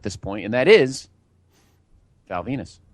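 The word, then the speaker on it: Val Venis: And guy who's been pretty over, is pretty awesome heel, at this point, and that is Val Venus. Rhymes with penis.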